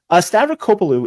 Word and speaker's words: Stavrakopoulou: now that was that would be difficult to pronounce if you didn't know how to do it which you didn't uh stavrocopalu is um is wow she's Fringe okay she's